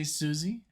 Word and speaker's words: Siouxsie: you for that so you basically just say Suzie but it's spelled s i it's like the like the tribe you know and then Suzie